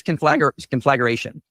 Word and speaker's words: conflagration: He was adding a schwa and putting the emphasis on the wrong syllable.